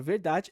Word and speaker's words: verdade: caso da palavra verdade percebam que a sílaba forte da palavra verdade é justamente da né ou seja verdade então o contexto de